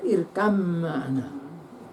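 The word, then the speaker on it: ارْكَب مَعَنَا: Tulisannya irkab ma'ana. Tapi bacanya irkam ma'ana.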